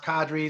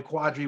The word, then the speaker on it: Qadry: know for whatever reason you couldn't be pronounced cadre so they were like all right what are you gonna call them don't call me quadri why did you just